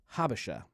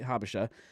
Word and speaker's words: Habesha: The pronunciation, I believe, is Habesha.